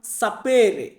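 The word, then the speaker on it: sapere: ইংরেজিতে ই আছে প্রত্যেকটা ওয়ার্ডের লাস্টে দেখবেন যেমন সাপেরে সাপেরে মানে কি জান কোন একটা বিষয় জানা ইংরেজিতে আমরা বলি নো নো মানে জানা এটাকে আমরা ইতালিতে বলবো সাপের বোঝা কোন একটা জিনিস বুঝতে পারা বোঝা এটাকে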